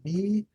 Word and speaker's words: Mirai: Mirai, is that how you say it? Myra I? I'm gonna get this right. Mirai. Mirai. Mirai. Write that down. Mirai.